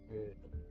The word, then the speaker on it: Gödel: Probably pronouncing his name wrong. Kurt Gödel was German. I've not spoken German in a long time. Gödel. It's Gödel.